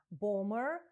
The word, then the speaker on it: bomber: У вимові слова bomb, bomber, друга B не вимовляється.